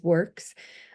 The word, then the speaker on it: WRCCS: the director of the Wisconsin Resource Center for Charter Schools, which we then abbreviate to WRCCS or try to pronounce it, and it says WORCS.